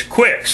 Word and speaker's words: Qix: And the other one is Qix, a clone of Qix, only it's spelled Q-I-C-K-S instead of Q-I-X.